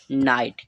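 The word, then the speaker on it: night: जो जीच दिया है वो हमारा क्या रहेगा यहां पर साइलेंट रहेगा ठीक है टी से बनाते हैं ट तो इसका इसको जो प्रोनाउंस होगा उच्चारण होगा उसे हम क्या पढ़ेंगे नाइट क्या पढ़ेंगे इसको हम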